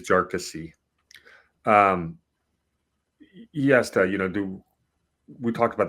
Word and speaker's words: Jarkesy: Now, the ask from Jarkesy, I found out that it's pronounced with 3 syllables. I've been saying it wrong for almost a year. It is Jarkesy.